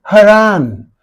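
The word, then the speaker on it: harangue: this word ha ha ra har this is haran don't say gu is not being pronounced here you cannot say har just like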